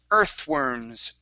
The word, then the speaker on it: earthworms: Okay, this is a TH sound right here. Earthworms, earthworms.